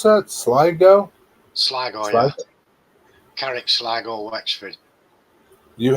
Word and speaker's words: Sligo: How do you pronounce that? Sligo? Sligo, yeah.